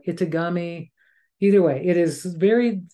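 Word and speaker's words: etegami: that is so and I might I might pronounce it incorrectly but it's spelled e t g a m i in eami or Itami either way it is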